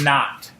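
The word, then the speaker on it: naught: subscript notation the zero which is pronounced not right which is like zero is nothing not is nothing so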